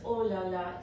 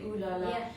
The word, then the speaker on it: Ooh La La: Yes, because in French it's oh la la, so but in English we just say ooh la la.